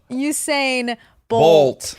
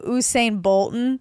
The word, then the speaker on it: Usain Bolt: There was one video you sent me where he was like mispronouncing Oh, Usain Bolt. but he kept calling him Usain Bolton.